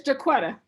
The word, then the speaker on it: Jacquita: Now, is your name pronounced Jacquita or Jacquita? It's Jacquita.